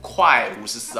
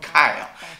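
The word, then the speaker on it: Quai 54: 错了，读快 54 啊，其实它是一个法语的发音，读 Kai 啊， Kai 54。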